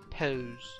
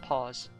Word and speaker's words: pose: Tough girl pose. Yeah. I really have hard time pronouncing this, so it's pose. Pose. Pose. Not pause. Pose.